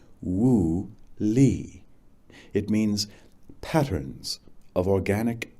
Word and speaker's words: Wu Li: We called it Woo Lee, pronounced Woo Lee.